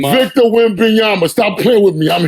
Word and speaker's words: Wembanyama: I can't pronounce his last name. Wembanyama. Wembanyama? Wembanyama. Well, that's close. His name Victor Wembanyama.